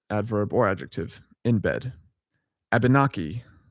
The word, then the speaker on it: Abenaki: Abenaki, yeah, I think that's how you say it. Also, Abnaki. There's another way to pronounce it. Abnaki.